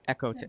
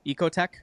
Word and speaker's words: EcoTech: and uh, also is is it Ecote Tech or Echo Tech? Ecote Tech. Am I saying it right?